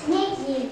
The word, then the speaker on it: снегирь: Снегирь. Ударение падает на слово гирь, на гласную е.